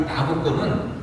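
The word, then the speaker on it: Nabucco: 오늘 감상하신 베르디 최대의 오페라 이 나부코는 느부갓네살 왕의 이태리식 발음입니다. 줄여서 느부갓네살 왕을 나부코라고 명하게 됩니다.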